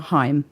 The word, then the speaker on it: Haim: at reversal of the muse you guys are hime yes and so I've asked you all in